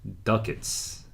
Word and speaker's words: ducats: do cats dukes duquettes let me see the pronunciation duckets ducats ah interesting i did not know that was pronunciation ducats here there is